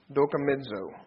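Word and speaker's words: δοκιμάζω: Dokimizo. I'll spell that for you if you'd like.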